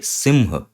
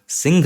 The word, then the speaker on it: सिंह: इसको यूज करते हैं तो सिंह ये सिंह ये होता है इसका सही उच्चारण फिर से संस्कृत में सिंघ नहीं है ये ना